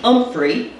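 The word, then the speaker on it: Humphrey: In 1916, Donald and Elsie Umphrey pronounced with a silent H, spelled H U M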